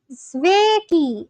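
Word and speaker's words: Sveiki: Zveki pronunciation. Oh, it's hello in both Latvian and Lithuanian. Sveki.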